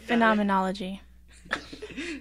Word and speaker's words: phenomenology: it's called phenomenon phenomenon phenomenological yeah phenomenology that's how you say it um yeah phenomenology and